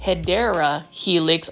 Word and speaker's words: Hedera helix: right over here is another HRA heix or the correct way to say it is hedera helix or English ivy this